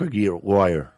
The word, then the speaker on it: Aguirre: Mark Aguirre.